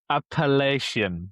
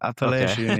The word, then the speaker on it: Appalachian: Appellacian. Appalachian.